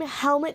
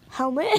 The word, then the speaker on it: Helmut: Yeah, it's a German name. Okay, that makes more sense. Yeah, it's like a European name. Okay, it's so weird. Not like the thing you wear in your head. It's spelled differently.